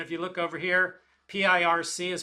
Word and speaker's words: Pirc: And if you look over here, P-I-R-C is pronounced Pirc.